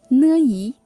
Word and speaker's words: 你: Distinguish it with 你 whose pinyin is N-I. 你 The word 您 is